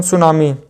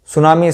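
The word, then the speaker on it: tsunami: बता सकता है तो सुनामी शब्द स्टार्ट होता है टी से टी के बाद आता है एस ठीक है सुनामी शब्द किसे स्टार्ट होता है इसमें टी साइलेंट होता है सुनामी शब्द किस शब्द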